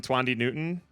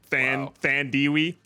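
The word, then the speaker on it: Thandiwe: a nasty throat infection, and how do you pronounce her name? Tandy Newton. Tandy Newton. Twandy bastard. Thandiwi.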